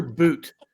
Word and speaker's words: Bout: name out Victor Victor boot but it's it's spelled b u t you would think it's bout but that's not how it's pronounced the woman who was